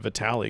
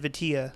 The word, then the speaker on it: vitilla: I'm calling it Vitali because I can't remember anything. I have Alzheimer's. Vitali. Vitilla? Vitilla. So, that's what the guy from the Dominican Republic said on the video that I was watching. He said Vitilla. So yeah, I'm going with the source there on that one.